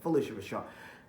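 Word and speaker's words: Phylicia Rashad: great Felicia Rashad and it's like Felicia Rashad right that's how you say her name Felicia Rashad and it is like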